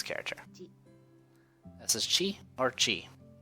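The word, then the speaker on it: ち: for the next character this is Qi or Chi it's this consonant followed by a vowel and makes up a single syllable you pronounce it SS chief this the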